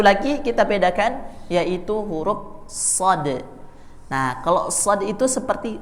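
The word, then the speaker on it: صاد: alasah lihat ya jadi pengucapan shad-nya tebal karena pangkal lidahnya naik jadi kalau kita cuman bergumam pakai Shad itu bunyinya seperti ini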